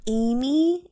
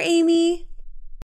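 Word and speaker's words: Aimee: i'm from french oh so is your name not amy a-m-y no but it sounds the same how do you spell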